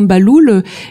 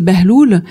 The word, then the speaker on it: Bahloul: Alors moi, mon nom, par exemple, le nom Baloul était le nom d'un wali qui s'appelait, alors la prononciation en arabe, c'est Behloul.